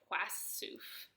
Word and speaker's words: Płaszów: Oh, look, Polish pronunciation is płasów.